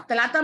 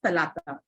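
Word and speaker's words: ثلاثة: She would stand up and she would say, Miss is pronounced as talata. Talata. Correct.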